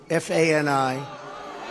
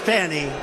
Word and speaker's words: Fani: It's all, look at Fani, F-A-N-I. It should be pronounced Fanny. Fanny. Fani. Fani. They say she gets very upset if you call her Fanny.